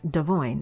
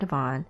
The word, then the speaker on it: Devoin: But anyway, Devoin's correct pronunciation of his name is Devoin. It's not Devon.